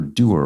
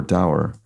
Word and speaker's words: dour: If you're doer or dour, I've heard it pronounced both ways, you could be unsmiling in demeanor.